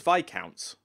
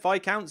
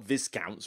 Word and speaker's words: viscount: number of people pronouncing I thought it was VI counts isn't it VI counts isn't the yes silent or whatever in that word but I don't know maybe I've been pronouncing it wrong for ages I know it's not viscounts or anything strange like that so